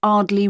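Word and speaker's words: Ardleigh: 24 Ardley Road. Can you spell that?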